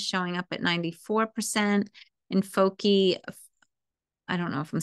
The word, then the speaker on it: foci: Yes, multiple focus, pronounce foci.